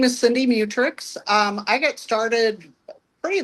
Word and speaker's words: Mutrux: Do you go by Mutrix.